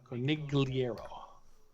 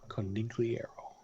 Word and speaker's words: Conigliaro: the name of Tony Conigliaro? Sounds very painful. So you spell it. I'll let you enter your internet search. Conigliar, like liar, and O. Conig. Nig. Okay. Liar, Liar, sorry. O. Conigliaro. Tony Conigliaro.